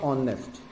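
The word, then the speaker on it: honest: अब देखिए, जैसे ही मैं वर्ड लिखता हूँ ऑनेस्ट, अब ऑनेस्ट में एच प्रोनाउंस नहीं होता है।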